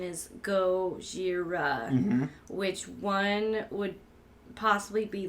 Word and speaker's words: Gojira: animals that would be well I remembered the pronunciation is go Shira which one would possibly be lizard right like